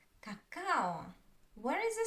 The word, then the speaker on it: какао: Let's look at another word, cacao, cacao. Where is the stress? The second, cacao, cacao. You see? This stress syllable I pronounce longer than others, and I don't put much my attention to the other syllables.